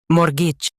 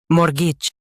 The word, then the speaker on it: mortgage: Mortgage. Both US and UK have the same pronunciation of this word. Mortgage. Now read the syllables shown on the screen naturally. More. Gidge. Mortgage. Stress more and soften gitch.